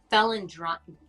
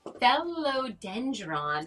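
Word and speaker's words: Phellodendron: other the other one so we have the felon dr okay i'm going to say it right fellow dendron root powder maybe i said it right yeah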